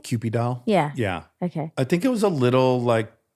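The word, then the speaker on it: Kewpie doll: Cupid doll?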